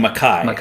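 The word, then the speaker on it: MacKaye: I think I just I've been saying McKay my whole life and I think I just learned well I shouldn't say I just learned yeah I'm hearing people that I respect that know more than me saying Maki so I'm starting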